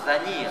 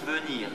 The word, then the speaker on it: venir: s'accomplir et bien sûr venir ça s'écrit avec un e hein on dit pas Vanir on dit venir donc avant ça s'écrit